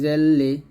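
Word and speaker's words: ذ: লাম জাল্লি জালি, এই জালটা উচ্চারণ করার সময় একটু সতর্ক থাকবেন, সেটা হচ্ছে আপনার জিহ্বাটা যেন নিচে যাতে না লাগে, জিহ্বাটা অবশ্যই সবসময় উপরে দাঁতের আগে লাগিয়ে জাল উচ্চারণ করবেন।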